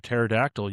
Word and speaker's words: pterodactyl: So, no, the joke that I had was, why can't you hear a pterodactyl using the bathroom? I don't know. Yeah, Because the P is silent.